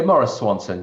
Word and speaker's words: Maurice Swanson: Am I pronouncing that correct, Doc? Yeah, Maurice Swanson.